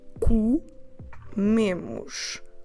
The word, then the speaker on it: comemos: So we do comemos, comemos. So this word has twice the letter O, and they are both unstressed O's, and we pronounce them both as U. And our stress is on the me.